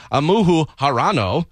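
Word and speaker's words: Ayumu Hirano: He was behind Japan's Amuhu Harano.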